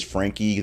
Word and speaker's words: Franke: her name it is Frankie the E is pronounced so Rudy Frankie and Jody hillebrand have